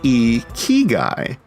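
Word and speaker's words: ikigai: Alchemy for Life podcast a key guy it's pronounced e key guy well hey there welcome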